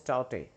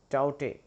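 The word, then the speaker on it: Tauktae: landfall in gujarat okay the pronunciation is taute right not that k is the k here is silent taute all right okay so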